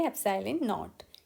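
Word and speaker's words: epsilon naught: एप्सिलॉन नॉट, ये जो symbol आप देख रहे हैं इसको आप प्रोनाउंसिएशन करेंगे एप्सिलॉन नॉट. ग्रीक सिंबल है एप्सिलॉन नॉट.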